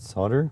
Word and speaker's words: solder: Uh why pronounce it solder? because that's how we pronounce it. North America.